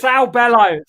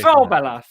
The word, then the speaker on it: Saul Bellow: Sal Bello. Yeah. Oh well, Saul, but we won't take any points away. Saul Bello. Yeah, anti-Semitic. So don't know. Maybe pronounce it right next time.